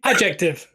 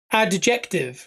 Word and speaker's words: adjective: And I said adjective. And they went, why are you saying it like that? I said, because it's spelled ADJ. Yeah. Adjective. Adjective. But Bruno gets rid of the D completely.